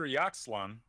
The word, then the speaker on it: Ixalan: So after Yaxlan, how do you pronounce it? I think it's Ixalan, Ixalan.